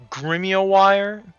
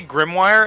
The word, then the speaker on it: grimoire: I'll say grimoire and Kit will say, "No, no, no. You got to you have to say it like stolas." Grimoire.